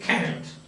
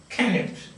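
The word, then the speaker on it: Cnut: It is, the spelling is C-N-U-T, but it is pronounced Canute. Canute.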